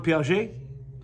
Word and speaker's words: Piaget: to figure out how if it's a French name and I brought the ET over to it yeah Jean yeah Jean Piaget I feel more intellectual